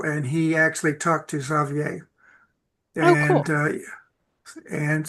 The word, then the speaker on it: Xavier: Xavier, thank you for letting me know how to actually pronounce it. I've only ever read the name. Xavier.